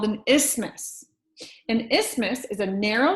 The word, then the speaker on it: isthmus: this is called an isthmus kind of reminds me of Christmas it kind of rhymes with Christmas rather so this one's called isthmus the opposite of an